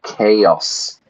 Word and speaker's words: chaos: Sordland plunged into chaos. Notice the pronunciation there. It's the hard K.